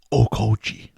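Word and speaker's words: Okouchi: to be written by ichiro okuchi okauchi what do you think on that one isaac ichiro okochi that's way better than what i did that's how you pronounce it oh koji-san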